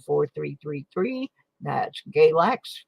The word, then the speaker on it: Galax: three three three that's galax rhymes with x-lax for a reason we'll